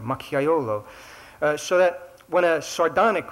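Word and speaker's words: macchiaiolo: dialect term I guess is um uh is makayolo spelled with a spelled with a J in the middle there machiolo so that when a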